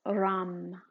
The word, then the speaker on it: Ram: The sound for solar plexus is Ram. Ram. R. It's spelled R-A-M. It sounds like Ram.